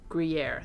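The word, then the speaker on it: Gruyère: Ooh, Gruyere.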